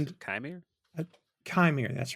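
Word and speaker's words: Qimir: This is Manny Jacinto as Khmer, yeah, I think that's how you pronounce and it. Chimere? Chimere.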